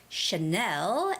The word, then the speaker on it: Chanel: luxuy brand named Chanel so when you're saying Chanel that brand name you have to put the emphasis on the second syllable the stress goes on the second syllable which is Chanel and it has only one n Chanel Chanel repeat